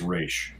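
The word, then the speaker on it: Rache: because of uh uh how does he pronounce the first name or shay bart moss race race yeah yeah there's no accent on the e there um but yeah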